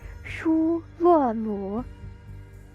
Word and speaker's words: Shu Luo Mu: Apparently, okay, for the first 3 characters, it's pronounced Shu Luo Mu. I suppose it sounds like shroom.